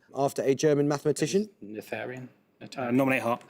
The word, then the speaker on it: Noetherian: Noetherian. Nominate Hart. Noetherian. I'm not entirely sure how you pronounce it.